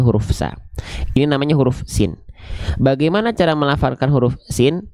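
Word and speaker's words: س: Oke, yang ini kita nggak akan terlalu bahas jauh-jauh karena senatural itulah huruf sin dilafalkan sebagaimana kita melafalkan huruf S pada abjad alfabet.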